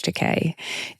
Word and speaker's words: Takei: George Teay. It rhymes with gay.